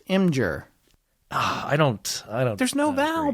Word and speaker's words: Imgur: Regardless of all that, there's a really cool Imager. There we go. Imager. No. Imager. No. Imgur.